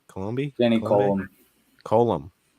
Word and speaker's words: Coulombe: Coulombe. It's a silent B.